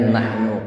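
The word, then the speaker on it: نَحْنُ: Baik, sekarang ya dainya nahnu qaddarna. Kalau kemarin nahnu khalaqnakum ayat 57. Sekarang nahnu qaddarna. Ngaten. Nahnu qaddarna bainakumul mauta wa ma nahnu bimasbuqin. Hati-hati, nahnu, nunya bacanya pendek.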